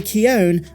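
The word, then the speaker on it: Keoghan: taika waititi's movie Barry keone as is the proper Irish pronunciation has expressed interest in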